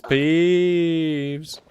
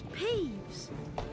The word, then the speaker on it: Peeves: It's peeps. Hello peeves. No, it's peeves.